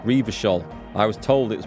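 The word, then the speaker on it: Revachol: Hang on, it's pronounced Revershol.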